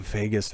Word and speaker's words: vagus: both associated with stimulating the vagus nerve I guess that's something that rhymes with Vegas that I like to